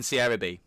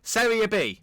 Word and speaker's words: Serie B: The game against Frosinone coming up in Serie B. I said it wrong. Serie B.